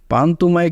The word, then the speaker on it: পান্তুমাই: পান্তুমাই গ্রামের স্থানীয় নাম হল পান্তুমাই। কিন্তু এর সঠিক উচ্চারণ হল পান্তুমাই।